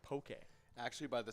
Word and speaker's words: poke: By the way, it is pronounced poke.